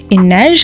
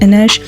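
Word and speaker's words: Inej: uh teenagers there's Cass Ines I think it's pronounced Ines uh Nina Matias or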